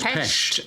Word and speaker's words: Pest: It's Pest. Yes, with a silent sh.